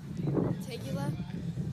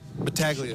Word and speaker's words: Battaglia: Tegula? Battaglia.